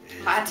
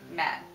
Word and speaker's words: matte: Wait, do you really know how to pronounce that word? What? Matte. Oh. Matte, like... Well, if they wanted it matte, they should say M-A-T. Not M-A-T-T-E. This is special. It's French. It's dumb.